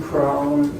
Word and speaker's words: Cron: Yeah, it's Cron. Last name is spelled C R O N.